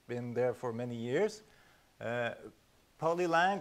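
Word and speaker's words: Polylang: there for many years polyline which I only pronounced in French poly long because it's made because it made its made by a Frenchman so it feels better to say it but I long very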